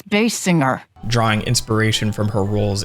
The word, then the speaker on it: Basinger: However, later her look would evolve to resemble actress Kim Basinger. It's Bass Singer.